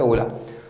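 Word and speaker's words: Hola: भी कह सकते हो होला होता वो एक्चुअली उसको प्रोनाउंस क्या करते ओला तो जब हेलो कोई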